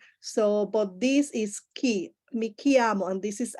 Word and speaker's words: chiamo: Some people said chi, mi chiamo, right? And this is, you are reading this in Spanish, mi chiamo. This is mi chiamo, ki.